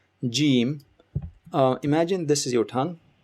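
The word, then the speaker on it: ج: Next you have Jim. Imagine this is your tongue and the middle of your tongue touches the upper part of your mouth.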